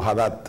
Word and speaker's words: Haddad: Na minha pronúncia, Aider. Haddad é Lula. Sí, esa es la campaña del PT. Uh-huh. Haddad es Lula.